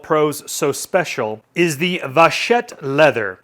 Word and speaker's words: Vachetta: so special is the Vachetta leather. And that is a French word. And I actually had to look that up to know how to pronounce that. Vachetta leather.